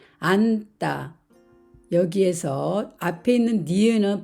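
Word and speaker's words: 앉다: 말을 먼저 보겠습니다 겹받침 니은 치로 된 말 안따 여기에서 앞에 있는 니는 발음이 되고 지은 뒤로 이동이 되면서 따라는 된 소리가 됩니다 그래서 안따 안따 이렇게 읽습니다 그러면 몸을 만나면 어떻게 될까요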